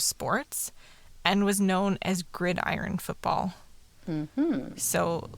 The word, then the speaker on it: gridiron: saw it written down i read it as like grideron and like what the is that like what is happening it seems like such a hard to pronounce word i'm like it's grid iron i remember being